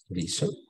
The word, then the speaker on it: lisant: Alors, on a un A nasal, tenemos aquí un A nasal, lisant. Y no vamos a pronunciar la letra T al final.